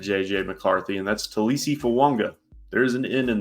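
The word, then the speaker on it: Fuaga: blocker for Mr JJ McCarthy and that's TSI fanga there is an in in there even though it is not spelled like that it is pronounced that way um if you look at the pronunciation Tois Fu Wanga um to Minnesota so they're going offensive weapons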